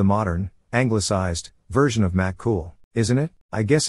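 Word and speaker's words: Cumhall: her parents effing knew what they were doing it's pronounced cool and not from a series of books but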